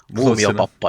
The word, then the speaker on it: Muumiopappa: Is it pronounced Momio Papa? I think that's close enough. Mumo papa in Finnish.